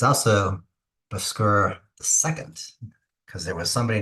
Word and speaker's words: Bhaskara: So today's mathematician is Bhaskara. I think it's pronounced, according to the internet, Bhaskara. And as you can see here, he was born in 1114 to 1158.